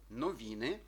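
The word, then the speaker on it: noviny: буде наближено до і А якщо ця літера стоїть у кінці слова так як наприклад у випадку новіни то воно наближається майже до українського и так само воно передає щось між і і и коли цей ця літера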